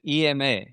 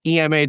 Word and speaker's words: Ema: Is it Ema? Just correct. It's actually an acronym. Enterprise Machine Assistant, EMA. What was it? Enterprise Machine Assistant, EMA. And okay. Pronounced as Ema, not Ema.